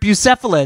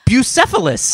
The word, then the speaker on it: Bucephalus: story Alex no matter now because that you mispronounced the word Bucephalus oh really and everybody and like but now people Bocephus that's what it oh yeah so Cephas go Tyson is Bucephalus Oh Alexander the great horse so he had